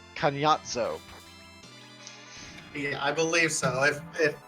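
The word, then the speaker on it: Kainazzo: So the original name is pronounced Kanyatzo.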